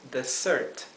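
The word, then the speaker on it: dessert: Desert postre es Desert fíjense que la do s que vemos aquí en Desert se pronuncia S como una s suave no es la Z el como un zumbido de una abeja que generalmente es suena así Cuando tenemos una sola s Cuando tenemos dos s En cambio es una es suave Desert fíjense que con solamente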